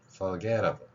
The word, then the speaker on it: forget: 때마다 설명을 하고 있죠 윗 니로 아랫 입술을 물고 계속해서 마차를 일으키는 소리입니다 목젖 안 울리죠 자이 상태에서 발음하는 겁니다 forg forget 어 forg 아냐 이렇게